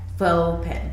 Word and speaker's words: Fauxpen: fau ex PE n fo pen yeah you know like faux leather yeah like faux leather